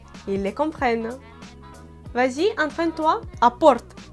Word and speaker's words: apporte: Apporte. Apporte. Tu vois, je prononce ce mot à la russe.